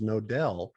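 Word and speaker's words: Knodel: is k-n-0 d-e-l because my last name is nodell and it's spelled k-n-o-d-e-l so it used to be years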